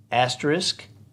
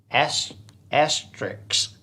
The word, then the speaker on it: asterisk: a veterinarian it's not veterinarian george picasso says asterisk versus asterix yeah and etc etc etc etc i mean